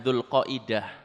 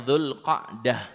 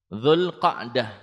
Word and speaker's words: Dzulqa'dah: Kalau orang Jawa nyebutnya Dzulqaidah. Gitu ya? Dzulqaidah. Bacanya yang benar Dzulqa'dah. Dzulqa'dah.